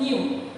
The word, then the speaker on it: nu: तर this symbol is known as, or the pronunciation of this symbol is nu. This is nu.